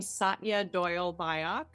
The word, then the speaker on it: Satya Doyle Byock: I pronounce my name Satya Doyle Byock.